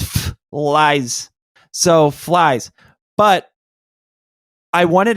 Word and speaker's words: Phylzzz: So, it's to me it's pronounced F lies.